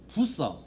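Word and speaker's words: Bucer: 차원에서 말씀을 드립니다 이제 마르틴 부서 혹은 부처라고도 발음하기도 하는데 한 20년 전에 합동측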